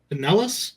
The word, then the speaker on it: Pinellas: looks like back in December, the county commission, Pinellas County, if I'm pronouncing that right.